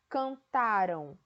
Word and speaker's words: cantaram: Então, quando eu digo aí, ó, cantaram e cantarão, é diferente, a minha pronúncia é diferente.